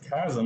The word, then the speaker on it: chasm: Is it Chasm or Chasm? Chasm, you've been saying it wrong the whole time. How am I supposed to know? CH. You're a teacher. You're a teacher, man. Christmas. Yeah, CH, Christmas. Church. Champion. Chasm.